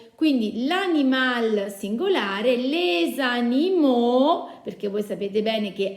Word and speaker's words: animaux: Quindi l'animal singolare, les animaux, perché voi sapete bene che AU si pronuncia O, la X finale non la pronuncerò, quindi les animaux.